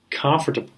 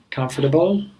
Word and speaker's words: comfortable: Often students mispronounce it and they say it as comfortable, which is very, very, very oftentimes I hear it like comfortable. They probably think like the root of this word is table.